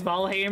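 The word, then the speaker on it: Valheim: seeing that seeing that I pronounce it as valim because it's closer to the to Old noris the damn speak up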